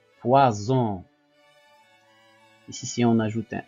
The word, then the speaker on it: poison: I et le O, donc le S mis entre deux voyelles, il se prononce Z, poison.